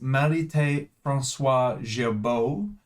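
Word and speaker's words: Marithé François Girbaud: Now, in today's video, excitingly, I'm going to be talking about the recently released uh if I can pronounce this correctly, it is Marit Francois Jabbo and their collaboration with Supreme New York or week six of Supreme's spring summer 2025 collection.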